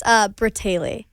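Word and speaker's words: Bratayley: Onto, can you pronounce this for me? Bray-tay-lay? It's Bratale. That's it.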